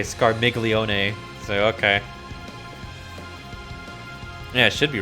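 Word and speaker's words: Scarmiglione: walls another time it looks like it'd be pronounced scar milione but they say scar miglione so okay I should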